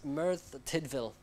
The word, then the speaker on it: Merthyr Tydfil: And our county for the week, I had to look this one up and look up the pronunciation, is Merthyr Tydfil, and it's in Wales.